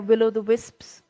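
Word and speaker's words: will-o'-the-wisp: Have you heard about will o' the Will o' the wisp? Wisp, Wisp. Will o' yes, the wisp? Yeah. I must have. Am I pronouncing it correctly?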